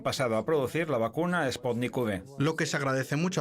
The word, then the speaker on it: Sputnik V: Él lo pronuncia, y por ende yo también, como Sputnik V. V como en Victoria.